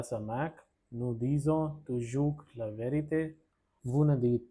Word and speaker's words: toujours: The fourth one, nous disons toujours la vérité. Toujours is the pronunciation of this word.